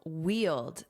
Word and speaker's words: wield: Let's review wield. This is a verb. Notice that pronunciation. Wield. Yield. Wield. If you wield usually power,